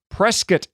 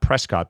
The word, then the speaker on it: Prescott: the Chino grinder near Prescot Arizona and that's how they say it there by the way not Prescott but Prescot Arizona and you did the